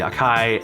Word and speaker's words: Akai: i bought the akai which is how you pronounce it the akai lpk25 keyboard it's been great um yeah i